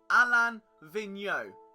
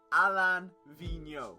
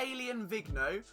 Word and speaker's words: Alain Vigneault: I believe, being French Canadian, the correct pronunciation is Alain Vigneault. Alain Vigneault. Okay, we can all say it together. Alain Vigneault. Not Alien Vigneault, which, if we're looking